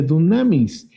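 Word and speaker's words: δύναμις: cuando hablamos de fuerza fuerza en el griego se pronuncia dunamis y dunamis tiene dos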